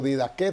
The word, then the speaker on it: didaché: el primer vocablo es didaché o didaque también se pronuncia y quiere decir aquello